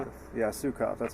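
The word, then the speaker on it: Suecof: Yeah, Sukoff, that's how you say his last name.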